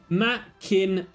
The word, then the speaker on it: Machina: I mean, so in response to the Machina question, Machina is the correct pronunciation. It comes from the old Greek phrase Deus Ex Machina, meaning God from the machine.